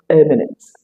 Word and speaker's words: eminence: Nevertheless, let's start with eminence. Listen to the pronunciation again. Eminence It begins with the sound eh as in peg, bed, summation of p.